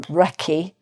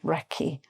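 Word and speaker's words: recce: So first of all reconnaissance and it can be abbreviated to wrecky which is a bit more English sounding wrecky but reconnaissance means sort of getting to know.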